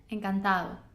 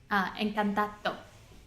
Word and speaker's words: encantado: Yeah, and then the D would be dime, and then encantado. So you can see my mouth. I don't do the same. Dime, encantado. And what would be the kind of English way of pronouncing that second word? Encantado. Right. Yeah, so people try and pronounce every letter when they're learning. So they usually say encantado or cabeza.